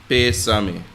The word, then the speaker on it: pésame: Or you can say, mi más profundo pésame. Right? You notice the accent is on the E and the first E in pésame.